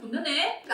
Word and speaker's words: 곤란해: 그리고 우리 국어의 표준 발음 중 하나는 니은 다음 리을이 올 때는 니을 발음을 합니다. 그 니은이 리을로 바뀌어요.